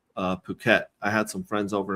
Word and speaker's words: Phuket: it was, you know, it's uh apparently it's pronounced uh Phuket. I had some friends over in Phuket and uh I kept calling it it, but it's Phuket and and I was like,